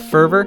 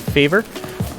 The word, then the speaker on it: Fervor: The final boss here is going to be the Hag of Favor. The Hag of Favor, or Fervor, is how it's pronounced, oops.